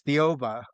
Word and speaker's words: Thiaoouba: the Thiaoouba Prophecy, and I think I'm actually pronouncing that pretty close to how it actually is, because I know it sounds a lot like Jehovah, so it's Thiaoouba, the prophecy.